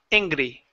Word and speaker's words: angry: Now, the only other part was this gr instead of not angry. Instead of angry, push your lips forward for the R.